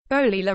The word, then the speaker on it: Bolila: Bolila rhymes with Godzilla is 15 weeks old.